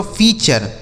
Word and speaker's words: feature: आगे लिखा है FEATURE, तो FEA से हो गया दोस्तों फी, FEA से फी। TURE का उच्चारण हो गया चर, यह लिखा गया दोस्तों फीचर। इसे क्या पढ़ा जाएगा? फीचर।